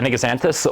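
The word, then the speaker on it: Anigozanthos: Am I pronouncing it right? Anigaxanthus? Yes, a Anigaxanthus, or a common name of kangaroo paw.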